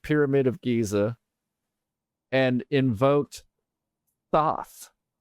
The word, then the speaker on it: Thoth: of Giza and invoked Thoth, which is actually like pronounced as Tahuti.